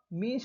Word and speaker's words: mesne: मीन्स profit sir, ये तो match ने प्रॉफिट लिखा है। मैच ने प्रॉफिट नहीं, मीन्स profit. According to the Latin pronunciation it is called मीन्स profit and इट इज द